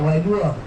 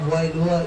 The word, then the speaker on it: Wailua: Now, Wua spell w a i l u a w a i in Hawaiian pronounced as vi or and that is fresh water.